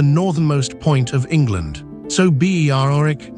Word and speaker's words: Berwick: On a Saturday afternoon in Tweedmouth, the Berwick, not Berwick, the W is silent, Rangers goalkeeper takes a goal kick down a Scottish League pitch that lies entirely in England.